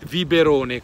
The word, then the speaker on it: Viverone: sul lago di di viberone con la b anche se si scrive V con la Viverone bellissimo posto mi piace